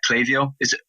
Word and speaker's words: Klaviyo: Klaviyo? Yeah, you are. It is, yeah. Brilliant. It's Klaviyo or Klaviyo. But in my pronunciation of it, my understanding is that it is Klaviyo.